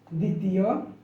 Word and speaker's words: দ্বিতীয়: তড়িৎ স্বর শিকার দ্বাদশ দ্বিতীয় ধ্বংস জ্বর জ্বালা জ্বালানি দ্বিধা এই শব্দ গুলোর প্রত্যেক প্রত্যেকটি শব্দের প্রথম যে বর্ণটি রয়েছে প্রথম বর্ণের সাথে অর্থাৎ শব্দের শুরুতে বফলা রয়েছে কিন্তু কোথাও বফলার উচ্চারণ হয়নি তো বফলার উচ্চারণ হয়নি